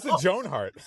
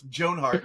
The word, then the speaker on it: Joan Hart: or three years ago why did you put the emphasis on Joan why you that's how it's pronounced jonart jonart uh you know